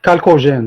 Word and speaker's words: chalcogène: C'est la colonne des chalcogènes. Donc, ça s'écrit en CH, mais on la prononce chalcogène.